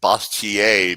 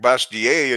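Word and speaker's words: Bastiat: I've always pronounced it bastier because it's French, you know, but bastier is sounds.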